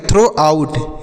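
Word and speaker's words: throughout: टी एस से पढ़ेंगे थ आर ओ यू जी एस को पढ़ेंगे टी आर से पढ़ेंगे र और ओ यू जी एस को ओ की मात्रा पढ़ेंगे यहां पर जो जी एच है या साइलेंट है और ओ यू टी को पढ़ेंगे आउट क्या पढ़ेंगे ओ यू से पढ़ेंगे आऊ टी से टो आउट हो गया तो इसे पढ़ेंगे थ्रो आउट इसे क्या पढ़ना है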